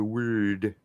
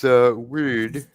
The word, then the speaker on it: Wyrd: The Wyrd. Nice. Because Wyrd, which is pronounced somewhere between weird and word, is actually related to both.